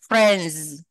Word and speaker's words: friends: Thì cái chữ S của cái từ friend đó, friend nó sẽ đọc thành âm z, friends.